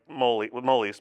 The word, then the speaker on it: Molis: I'm like, well, I grew up pronouncing it like molis, but like solis with an M.